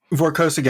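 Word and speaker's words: Vorkosigan: vorxican saga i'm not sure how does it pronounce is it voraco sagan vorkosaga yeah that's correct i don't know i'm not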